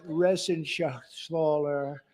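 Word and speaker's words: Reschenthaler: thank you and Guy Ren Shaler you know that Ren Shaler he's uh that's actually the way you pronounce it you know nobody else gets it right I got it right but it's a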